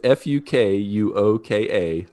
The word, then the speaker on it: Fukuoka: I have to be really careful how I pronounce this. But if you ever want to visit Fukuoka, Japan, it's Fukuoka.